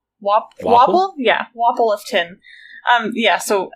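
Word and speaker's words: Wapol: Wapple?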